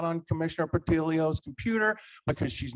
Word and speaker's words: Portillo: Also, I know that you know how to pronounce Commissioner Portillo's last name because you've been here a number of times. I've heard you pronounce it correctly. Please do not mispronounce her name. It is Commissioner Portillo.